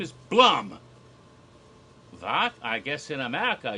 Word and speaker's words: Blum: name is it pronounced Blum like you'd expect it to be if you know anything about German names but pronounce Blum rhymes with plum or Chum or rum yep Blum and the